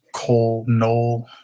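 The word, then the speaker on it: Knoll: So does Cole Null, however you want to pronounce that. K N O L L.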